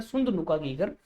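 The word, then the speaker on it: Sundhnúkagígar: है सुंद नुका गगर इसको बच्चों ऐसे प्रोनाउंस ऐसे किया जाता सुंद नुका गगर तो सुंद नुका गगर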